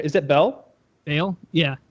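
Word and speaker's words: Baal: Is that Bell? Bale? Yeah. Bale? Yeah. Bale. Like B-A-L. It's pronounced Ball.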